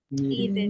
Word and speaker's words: needed: the verb for example the verb need what is the last sound in need need if you see I have D and I have D over here so the pronunciation will be needed needed needed okay needed